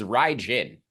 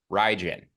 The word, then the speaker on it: Raijin: And the official Japanese pronunciation of Ryzen is Raijin. Raijin.